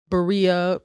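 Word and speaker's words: birria: in their berea taco and that is why they are rain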